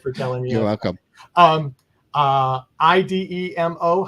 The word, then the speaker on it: Idemo: IDEMO. How do we pronounce that?